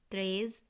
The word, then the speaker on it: treize: 11 উচ্চারণ হবে ONZE, অজ। 12 DOUZE, দুজ। 13 TREIZE, ত্রেজ।